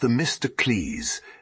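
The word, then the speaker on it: Themistocles: leader one was named the mysticles pronounced the Mr Cleese and the other aristides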